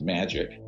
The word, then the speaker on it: MAJIC: So that's where I get into the Majority Intelligence Committee, MAJIC. It's pronounced MAGIC, ironically, or not ironically.